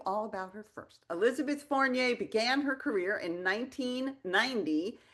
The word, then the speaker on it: Fournier: And I know it's two syllables, Fournier. It's very French, Right. yes? Not like Chevrolet, it's Fournier.